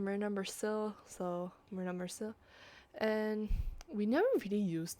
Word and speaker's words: Myrna Mercille: So yeah, I've even written down phonetically how it's supposed to sound. So character name Myrna Mercille, so Myrna Mercille.